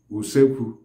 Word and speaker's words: usekwu: The kitchen itself is called in Igbo usekwu, uleekwu. Usekwu is spelled as U-C-E-Kwi-U.